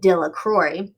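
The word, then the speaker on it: Delacroix: and harry jones and dickie de la craw the villagers pronounced his name dilla crore eventually made a great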